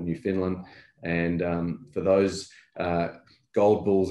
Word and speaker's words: Newfoundland: And if you Google Eric Sprott, Newfoundland, you'll find that, which is actually pronounced Newfoundland, spelt Newfoundland, you'll see that his views on